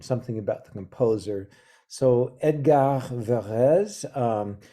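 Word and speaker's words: Edgard: about the composer so Edgar vares um he was French so you don't pronounce the d at the end of his first name he lived from the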